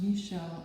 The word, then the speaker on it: Michel: Michel is it's pronounced Michel actually.